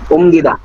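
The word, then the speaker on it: 옮기다: ওমগিদা। ওমগিদা। এই যে রিয়েলের উচ্চারণ হবে না, মিমের হবে, এজন্য উচ্চারণ কি? ওমগিদা।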